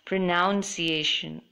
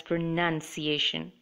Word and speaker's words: pronunciation: said the word pronunciation oftentimes IV I hear people say it it has pronounced iation but in fact it should be pronounced as pronunciation so you could ask